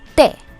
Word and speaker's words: té: In Spanish it's just one syllable. Té. Té. The stress on the E is important.